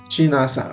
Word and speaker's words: Chinasa: This name is now pronounced Chi na Sha. Chinasha. It depends on how that person, maybe on his or her own, pronounces this name. And it happened, people are not picking this name in my place. It's a girl's name, Chinasa, which means God answers.